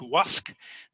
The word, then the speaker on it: Łask: from, a place called Łask. It's written Lusk, but there's a little line through the L, which means it's pronounced like a W.